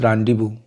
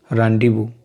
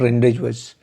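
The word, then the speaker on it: rendezvous: This is a French word, pronunciation is रैंडीवू, रैंडीवू, नॉट रेंडेजवस, रैंडीवू, ठीक है।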